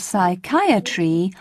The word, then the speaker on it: psychiatry: both leave it out in the words psychology psychic and psychiatry you must never sound the pee psychiatrist you call the